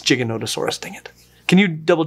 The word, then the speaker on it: Giganotosaurus: Oh, it's Giganotosaurus, dang it. Can you double check the pronunciation on that one?